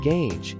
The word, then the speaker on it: gauge: Pronouncing gauge is simple. ɡeɪdʒ, with a soft G sound at the beginning and a long a sound.